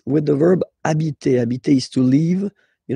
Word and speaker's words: habiter: just because, of course, it's starting with H, but as I said, you don't pronounce it. So the first sound you hear here is the vowel.